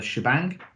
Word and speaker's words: shebang: be executed through so exclamation mark which traditionally are pronounced as sha and bang and therefore the two things together are the shebang and then the path